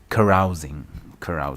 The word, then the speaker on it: carousing: Carousing, that's how it's pronounced.